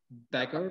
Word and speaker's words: Bakker: book unfortunately we don't have a hajj backer backer backer very good pronunciation fantastic thank you i was doing my